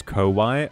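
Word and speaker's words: こわい: Close, but scary is pronounced as Kowai.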